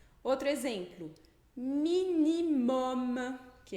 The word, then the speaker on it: minimum: Outro exemplo, minimum, que é mínimo, mínimo?